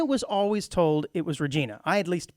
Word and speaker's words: Regina: reg now I was always told it was Regina I at least pronounced it Regina Saskatchewan I think is where it's at but apparently it's pronounced Regina had you ever pronounced it Regina Regina or